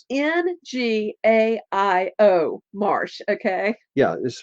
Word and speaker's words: Ngaio: It's Ngaio Marsh. Okay. yeah, it's spelled just like it sounds.